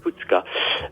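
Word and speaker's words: Tûtchka: mot aussi d'activation, c'est Tutchka. Ça s'écrit T-U-T. T-U-T. C-H. C-H-K-A. D'accord. Tutchka. Le U avec un accent circonflexe qui se prononce OU.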